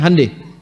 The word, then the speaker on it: Hyundai: Hyundai itu dibacanya hande.